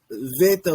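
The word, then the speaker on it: βήτα: same as modern Greek the pronunciation of Veta was always a v sound but the hard boo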